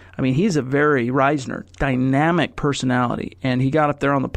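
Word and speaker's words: Risner: ner like you'd say risen er but he pronounced it himself as Daulton Reisner and of course he's a Colorado native he's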